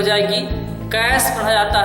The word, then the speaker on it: cache: तो जान लीजिए इसका प्रोनाउंसिएशन कैचे नहीं होता है, बल्कि क्या होता है? कैश होता है।